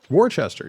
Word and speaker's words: Worcester: Worcester, yeah.